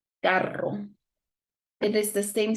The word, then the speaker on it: carro: But if it is in the middle and it's double R, we have a strong sound, carro.